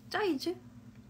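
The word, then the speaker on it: Zeiss: 그 제가 어떤 친한 분들이 운영하는 카페 갔다가 짜이즈? 이거를 짜이즈라고 읽는구나.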